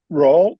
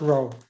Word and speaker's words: Row: I heard Roll, is that how you say it? It's pronounced Row, R-O-W.